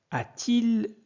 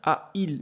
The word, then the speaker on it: a-t-il: Mais on ne peut pas dire a-il bien chanté. A-il bien chanté. Donc, on ajoute T.